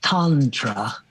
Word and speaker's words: Tantra: Tantra spelled like tantra but it's tantra.